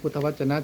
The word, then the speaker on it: พุทธวจน: ไง ดี นะ ครับ ถ้า อ่าน เป็น ภาษา ไทย ก็ จะ อ่าน ว่า พุทธวจน นะ ครับ พุทธวจน ถ้า อ่าน เป็น ภาษา